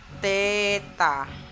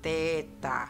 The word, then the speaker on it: theta: Nah, ini tanda bulat dikasih garis, ini bacanya agak unik. Jadi apa bacanya ya, bacanya ini adalah theta. Kita ulangi, bacanya adalah theta.